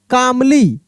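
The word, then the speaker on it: calmly: मैन, and asked कामली, क्या पढ़ेंगे हम लोग, कामली, L साइलेंट है, ठीक है ना, कामली ऐसे पढ़ेंगे, कामली।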